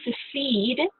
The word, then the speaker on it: secede: To secede, it's spelled differently than succeed and pronounced slightly different.